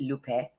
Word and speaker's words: Lupe: you for having me my name is pronounced l Lup not lupy Lupe and I'm originally from